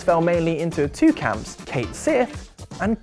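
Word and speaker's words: Cait Sith: debate once and for all by declaring it's pronounced Kate Sith and I wish I could say that was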